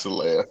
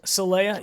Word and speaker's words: Saleh: I think it's Saleh. Saleh, yeah, that's how you say it.